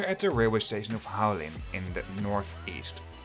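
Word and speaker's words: Hualien: So, this time it's a video from, I don't know how to pronounce it, I'll let my girlfriend do the job. Haulien!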